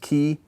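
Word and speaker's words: χ: Now this is traditionally how we learn they're pronounced. Chi, theta, phi. Okay?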